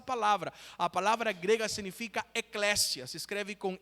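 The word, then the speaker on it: ἐκκλησία: ter ouvido essa palavra a palavra grega significa Eclésia se escreve com e k k e Eclésia sabe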